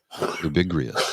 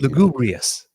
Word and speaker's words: lugubrious: Lubibrious is another good word. I like that one. Which one? Lubibrious. Did I say that? Lubibrious? I may have said it wrong, but you know the term I mean. Lugubrious. Lugubrious? That's it. Is it? I think so. I think it's lugubrious.